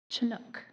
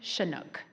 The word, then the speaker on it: Chinook: Chinook. I'm sorry. I'm sorry. I was giving you one of the alternate pronunciations. I apologize. The first pronunciation. Shinook. I apologize.